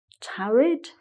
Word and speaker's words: tarried: so waited and again tarried married he had to use TD really didn't he to rhyme with married otherwise it wouldn't sound